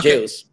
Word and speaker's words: Jayles: right but it's okay so it's called jails all right so what how is what is the uh absolute correct pronunciation how should i call you jails jails all right all right